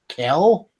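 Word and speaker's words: Kyell: pronounce this guy's name it's k k ye l e l l so Kell just spelled all funny Kell Gold's new novel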